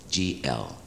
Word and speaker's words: glissando: harp, and the name of the effect, well, it's spelled G-L-I-S-S-A-N-D-O.